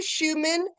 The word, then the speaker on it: Schuchmann: For more information about Schumann Wine Estates, go to Schumann, and that is spelled SCHUCHMANN and join listening about this gorgeous estate, villas, and wine.